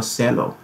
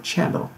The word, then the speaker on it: cello: 提琴 cello, 这单词读作 cello, 前面部分不能读作 cello, 只能读作 cello。